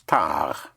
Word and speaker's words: tard: Like the word for late in French is tard. Tard, spelled T-A-R-D, like in tardy. But you don't sound the D because it is spelled T-A-R-D without an E.